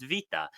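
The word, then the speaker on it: βήτα: but you'd be wrong beta is actually pronounced Vita because B dropped into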